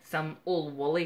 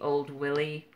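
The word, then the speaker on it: Oor Wullie: then I've got some Old Wally comics. That should be Old Willie, except it's a Scottish comic and it's written the way that it's pronounced, so that should be pretty fun.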